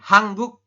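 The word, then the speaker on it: 한국: Kenapa ini jadi hang? Ya. Kenapa nien di bawah jadi eng? Karena ada aturannya, teman-teman. Nanti di bawah dibahas lebih lanjut ya. Nien ketemu dengan giok ya, maka nien yang di bawah ini, mau nien maupun giok, maka yang di bawah ini, yang posisinya di bawah, maka dia berubah bunyi menjadi eng ya.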